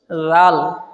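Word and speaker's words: ذال: জোরে দাল দাল দাল দাল এই হচ্ছে দালের উচ্চারণ এবার আছে কি জাল বলো জাল জাল সার উচ্চারণ মনে আছে ঠিক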